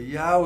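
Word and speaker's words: ewe: But it's just another dialectical pronunciation, of which U is also another dialectical pronunciation of E-W-E.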